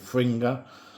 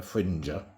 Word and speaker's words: Fringer: It's called a Fringer. Some people pronounce it Fringer, but like passenger and messenger and everything else, everything that ends in GER is Ger to me.